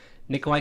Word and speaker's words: Nikolaj: Nikolai Coster-Waldau. Yeah, Nikolai. Let's just say Nikolai. Nikolaj, technically.